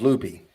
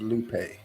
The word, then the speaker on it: Lupe: from texas l-u-p-e it was loopy she very lovingly corrected me it is lupe lupe lupe i'll keep an eye